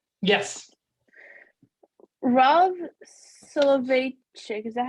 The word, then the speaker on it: Soloveitchik: Rav Soloveitchik, is that how you pronounce it?